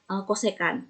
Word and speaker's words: cosecan: juga sama atau gitu CSC di sini bacanya tetap cosecan nah ingat ya Kok